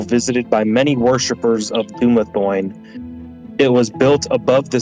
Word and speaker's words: Dumathoin: It is a subterranean temple to how do you say it? Dumathoin? I would say Dumathoin's yeah? good.